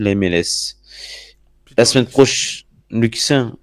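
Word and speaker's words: Luccin: La semaine prochaine, Luxin, on prononce comme ça? Ok, d'accord.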